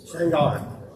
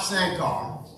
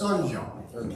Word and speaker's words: Sanjar: All right, tell me how you pronounce this. Sanjar. Sanjar. It's not Sankar. It's Sanjar. So just I know we have discussed this, but just remember that this is Sanjar.